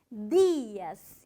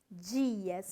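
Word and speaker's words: días: No Brasil a gente fala bom dia, não a conjugação aqui no plural, buenos dias, e tem uma diferença forte na pronúncia também, dias e não dias.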